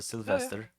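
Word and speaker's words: Sylwester: no but um sylvester i was a polish guy so that's a sylvester but the w is pronounced as v uh small airport with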